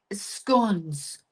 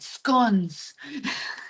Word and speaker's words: scone: Yes, I'm never going to say it right. Skons. Enjoy a scone instead of scone. I'm making um the Euros just grit their teeth. It's not scone.